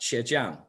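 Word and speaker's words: 茄酱: In Mandarin, it's pronounced qiejiang.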